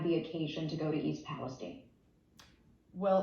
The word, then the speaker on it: East Palestine: name of the town it's East Palestine not Stein and East Palestine off